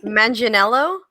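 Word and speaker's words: Manganiello: mangianello is also returning as that's how you pronounce it manginello man yeah imagine yellow engineer one okay we're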